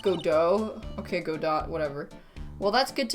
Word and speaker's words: Godot: It's pronounced Godot.